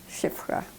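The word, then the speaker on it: Szyfra: um, Shifrah. Shifrah is a Hebrew name, but in Polish, the two letters, SZ, sounds sh, like in English, SH. So, Shifrah.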